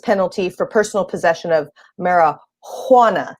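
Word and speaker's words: marihuana: for personal possession of mara juana now i say it like that because the texas statute misspells the word and they spell it with an h instead of a j but that also speaks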